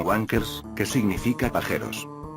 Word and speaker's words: Wang Cars: El nombre de esta empresa tiene dos formas de leerlo, ya que si lo pronunciamos todo junto en inglés sonará como Wankers, que significa pajeros.